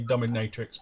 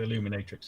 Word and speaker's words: Illuminatrix: of do the pronunciation illuminatrix wasn't it yeah I want to say dominatrix but it's not it's the illuminatrix hvt and this one is